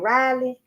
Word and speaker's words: Raleigh: How do you say that, at Raleigh? Like Raleigh, North Carolina.